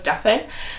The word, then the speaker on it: Daphine: My name is Daphine, and yes, it is spelled that with an I, although it's pronounced as Daphine.